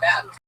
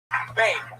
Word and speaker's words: Bane: Is it or Ben? Bane. It rhymes with name.